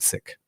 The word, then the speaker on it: Sikh: he also was saying Sikh.